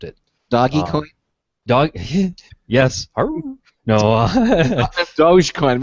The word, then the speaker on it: Dogecoin: doggy dog yes no dogecoin we pronounce it doggy coin yeah that's all right